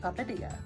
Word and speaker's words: Papadia: brand new and let's see if I can pronounce this correctly it's a papadia yes papadia La Padilla and what this is is you've